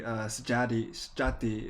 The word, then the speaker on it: Sjaattie: One of our key members of the Elrond community, Sjati is how you pronounce the name, but it's spelled like Sjaattie.